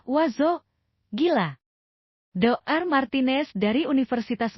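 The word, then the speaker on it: oiseaux: IO dibaca O, Oiseux dibaca wazo gila.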